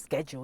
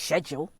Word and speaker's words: schedule: No one ever told me it's not schedule, it's schedule. You know, I say schedule but that's the American way.